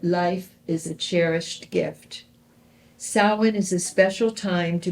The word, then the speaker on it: Samhain: Halloween's origins date back to the ancient Celtic festival of, it's spelled Samhain, Samhain, but it's pronounced Samhain. Samhain.